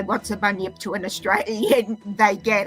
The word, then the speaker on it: Bunyip: Bun, as in like bun, and yip. So I put them together. Bunyip. It's kind of hard to describe it to non-Australians. Like if you say, what's a bunyip to an Australian, they get it.